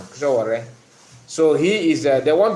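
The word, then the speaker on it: Sowore: Yeah, Showore. That's the correct pronunciation. Showore.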